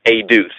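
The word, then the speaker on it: עֵדוּת: So Eduth, and it's spelled as Eduwth, Eduth, and pronounced as Eduth, Eduwth.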